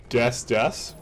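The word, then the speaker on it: です: The U is silent. So it's des? It's des. Des? You say it at the end of sentences. It's like a full stop.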